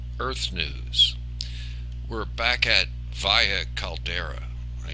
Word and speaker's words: Valles: news we're back at via caldera I said vias caldera the last time in the S is silent the Spanish pronunciation as opposed to Mars